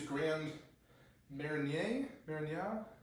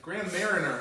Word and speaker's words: Grand Marnier: Typically, you'd use Grand Marnier, Grand something, Grand Mariner, as Americans say, Grand Mariner.